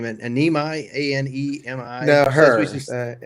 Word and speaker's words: Anemi: So I'm going to mispronounce his name. Anemi, A-N-E-M-I. No, her. Anime.